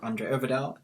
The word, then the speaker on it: André Øvredal: And today we're very privileged to have André Øvredal. Did I pronounce that right?